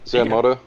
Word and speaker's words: Zanmato: Zanmato? Or am I mispronouncing it? No, Zanmato?